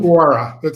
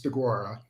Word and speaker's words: Deguara: DeGuara. He's spelled right, but it's DeGuara.